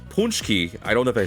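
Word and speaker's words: pączki: But unless I'm wrong, it's punchki.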